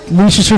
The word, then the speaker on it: Leicester: It's just Leicester, huh? Yeah, Leicester. You know, it's spelled like Leicester? I think I kept saying it like Leicester or Leicester or something. I'd have to ask him. It's like pronouncing Worcester.